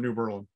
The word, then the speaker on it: New Berlin: eldest son's girlfriend's from new berlin right and you can tell it's it's not berlin it's new berlin because that's how we pronounce things we murder them here yes they berlin had